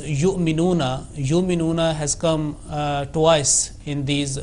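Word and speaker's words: يُؤْمِنُونَ: It should be pronounced with jerk but without addition of ayn, like yu'minuna, not yu'minuna.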